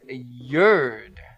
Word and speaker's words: yerd: Today's word of the day is yerd. Let the bullshit begin. Yerd. Can you spell that for me? Oh, I'd love to. It's like yard with an E.